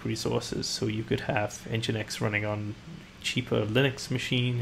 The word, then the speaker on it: nginx: retrain myself though because I keep calling it n Jinx and I just can't stop for some reason I went to the Wikipedia page to make sure that my pronunciation was correct and the uh the pedants who edit Wikipedia have confirmed that it is in fact engine X very well then I've